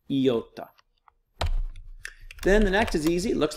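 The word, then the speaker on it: ιώτα: the next is iota it looks like an eye but it has an e sound yota then the next is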